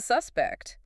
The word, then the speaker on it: suspect: You said I was the suspect. You used the noun form, stress on the first syllable.